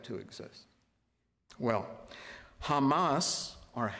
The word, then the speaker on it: Hamas: right to exist well Hamas or Hamas as it's pronounced in Arabic is a radical Islamic